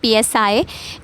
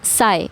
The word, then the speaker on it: psi: A few more units of pressure are ATM, psi, it's not psi, it's psi. Fine, इसको हम सिर्फ p silent है, हम सिर्फ psi बोलते हैं.